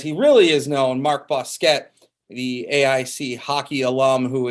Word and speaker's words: Bousquet: Like everybody else, the last name is pronounced Bousquet.